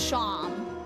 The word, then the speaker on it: Seam: The name Seam, pronounced Sham.